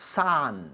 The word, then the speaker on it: son: Okay, escribe S-O-N, but it's pronounced san. san. San, como el sol, san. Okay. Y bajando la mandíbula más, san.